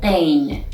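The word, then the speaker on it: پ: the 22nd letter is the letter pain which is pronounced like p there isn't any equivalent sound in english but we have in french like the word merci you see and also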